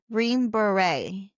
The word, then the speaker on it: Green Beret: He was actually, and you taught me how to say this word, Green Beret, A Green Beret.